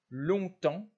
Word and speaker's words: longtemps: ne se prononce pas sur ces trois mots longtemps comment là encore le p et le s et le thé ne se prononcent pas attention ent ne